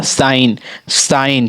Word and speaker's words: sign: अगला हमारा साइन, ठीक है, SIGN, साइन, देखिए जी का उच्चारण नहीं हो रहा है साइन में।